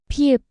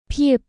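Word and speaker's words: 피읖: Example with the vowel a, this forms ta, pronounced ta. 타, 타. Number 13. 피읍, 피읍, 프, 프.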